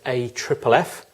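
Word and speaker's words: AFFF: as a 6 liter a FFF pronounced a triple F which stands for aqueous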